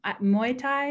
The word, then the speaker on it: Muay Thai: So cool that you got your fiance into Muay Thai.